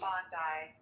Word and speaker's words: Bondi: And they would say, "Go to Bondi Beach or Bondi Beach, however you pronounce it, Bondi."